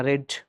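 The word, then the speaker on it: read: तीसरा रेड मतलब पढ़ना, और इसका प्रोनाउंसिएशन चेंज हो जाएगा। रेड लिख, स्पेलिंग सेम रहेगा, प्रोनाउंसिएशन चेंज हो जाएगा, उच्चारण बदल जाएगा, रेड।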